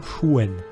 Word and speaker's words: Xuan: Les Anglais, ils disent bien Shuen. à ce niveau-là, puisque pour le coup, ça reste logique, on est sur un mot qui a une origine chinoise. Donc en fait, il se prononce à la chinoise.